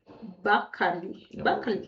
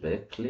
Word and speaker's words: Berkeley: And the interview was at Bali Bley. Beckley.